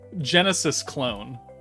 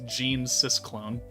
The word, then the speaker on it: Genesis Clone: Genesis Clone. You would not have liked the way I was originally going to pronounce that, which was Gene Cis Clone.